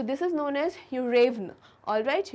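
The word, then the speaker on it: Yuryevna: तो इनके प्रोनाउंसिएशंस जो होते हैं वो इंग्लिश प्रोनाउंसिएशन से काफ़ी अलग होते हैं। So this is known as यूरेवना, alright, यूरेवना।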